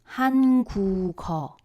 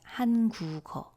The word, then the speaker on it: 한국어: But we are not going to read it as 한국어, which means Korean language. We would read it 한국어. That's what's happening in actual pronunciation. So this 기역 moves to the zero consonant position in the following syllable.